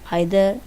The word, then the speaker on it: either: करते हैं, जिसको हम बहुत से लोग या तो इधर कहते हैं, निदर कहते हैं, या आइदर या नाइदर, दोनों ही हो सकते हैं।